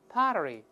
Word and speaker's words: pottery: 我们分别再读一下 crockery, pottery, 读快了之后中间这个字母 T 又会轻轻浊化一下。在里面 pottery, pottery, 好记了。